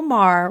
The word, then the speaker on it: Maher: And this is Charlie Kirk, Club Random with Bill Maher, rhymes with jar, and they are kind of discussing everything from faith to politics, those two things together and in between.